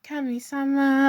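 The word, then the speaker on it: Kami-sama: But no cami kami sama cuz I sometimes say it wrong but I should say it like how they say it in the in the song you know in the intro but um kami sama like that but it sound is exactly the same.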